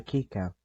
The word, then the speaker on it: Kika: I wish I got to see more of the Kika. That's how you pronounce it now, apparently.